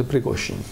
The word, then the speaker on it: Prigozhin: La mayoría de la gente no sabe pronunciarlo, es Prigozhin.